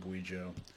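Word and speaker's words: Kweichow: is distilled in guijo the anglicized brand name is cuicho k-w-e-i-c-h-o-u but i'm going to pronounce it guijo when i traveled across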